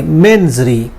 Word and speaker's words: mens rea: ये यूएस की लैंग्वेज में इसको मेंजरी पढ़ेंगे, ब्रिटिश की उसमें इसको मेंजरिया कहा जाता है। यूएस की लैंग्वेज मेंजरी और ब्रिटिश में इसको मेंजरिया पढ़ा जाता है। स्पेलिंग सेम है, MENSREA, मेंजरी या मेंजरिया। ब्रिटिश के मुताबिक मेंजरिया है और यूएस के मुताबिक ये मेंजरी है, इसको बोलते हैं।